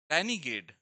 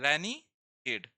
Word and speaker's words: renegade: बनकर आएगा, ये है रैनीगेड। देखो इस प्रोनाउंसिएशन अलग हो जाता है, ठीक है। रैनीगेड, ये प्रोनाउंसिएशन मैंने लिख भी दिया है।